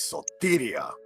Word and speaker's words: Sotiria: Her name is Sotiria. The DM regretfully notes that he has kept saying this name wrong constantly.